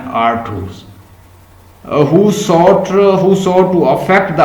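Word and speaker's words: Artaud: ड्रामेटर्जी का मतलब लिखें theatres, writing and the theatres of द एंटोनियंस, आर्थर्स या आर्थूस, इसकी प्रोनाउंसिएशन है आर्थूस, who sought to affect the audience viscerally।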